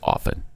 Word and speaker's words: often: You don't pronounce the T in often. It's often, not often.